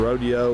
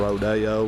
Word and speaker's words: Rodeo: This is a 1997 Isuzu Rodeo or Rodeo, whichever way you want to pronounce that.